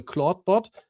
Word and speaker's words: Clawdbot: long time because the claudebot I think it's pronounced like claude but written differently.